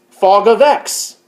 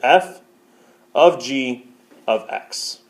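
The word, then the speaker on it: (f∘g)(x): degree sign okay and the way you say this is not fog of X disclaimer to make it make sense I'll probably be saying fog of X but that's not technically correct technical correct way to say it is F of G of X okay F of G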